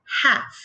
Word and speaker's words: half: In this case, the L is a silent letter. So we say half, half.